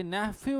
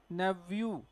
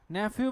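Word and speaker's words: nephew: आ चुका आपका क्वेश्चन तो नेफ्यू नहीं होता क्या होता नेवू नेफ्यू भी होता है लेकिन ब्रिटिश में नहीं होता है किसम होता है अमेरिकन में होता है तो अपनी इंग्लिश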